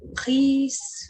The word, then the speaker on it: riz: Je mange des pâtes, je mange poulet, je mange riz ou un omelette. Et toujours avec une salade. Ok, super. Ricordati, du riz, non se pronuncia la Z.